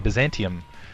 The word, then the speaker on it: Byzantium: what are we going to we're going to Byzantium ah said it right this time Byzantium uh